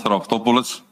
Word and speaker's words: Raftopoulos: Rafopolis Rafopoulos, please state your full names and then I will even know how your surname is pronounced. Uh, good morning ch uh Rafopouolis.